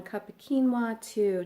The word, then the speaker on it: quinoa: So really the possibilities are endless with this wonderful little nutrient-packed seed called quinoa, and it's spelled Quinoa.